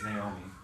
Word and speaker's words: Naomi: It looks like, not Ami or something, but it has that, so it's Naomi.